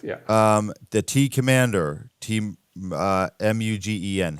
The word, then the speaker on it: Mugen: The T-Commander, M-U-G-E-N.